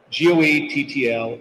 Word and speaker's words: Goettl: And he looks at me for a minute, he goes, "Goettl, it'll keep you cool, but it's hard to spell."